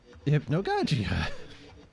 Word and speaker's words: Hypnagogia: And you pronounce it Hypnogajia. Hypnogogia.